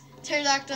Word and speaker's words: pterodactyl: Because pterodactyl has a silent P in there.